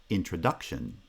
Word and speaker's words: introduction: In a word like introduction, introduction. The second foot is the strong foot, and the first foot is the weak foot. Inside each foot, the first syllable is the strong syllable, so stress is placed on the first and the third syllables of the word introduction.